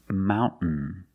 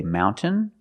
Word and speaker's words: mountain: Example, mountain. Mountain. You can say mountain or mountain.